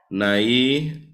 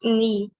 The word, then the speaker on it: Nai: Nai? No, sir. Oh my gosh. What is it? It's knee. Wow, as in Knee, pronounced like that.